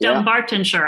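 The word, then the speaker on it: Dunbartonshire: Dumbartonshire.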